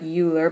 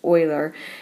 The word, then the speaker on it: Euler: famous mathemati mathematician and I know that word looks like uler but it's actually pronounced Oiler and Oilers rule is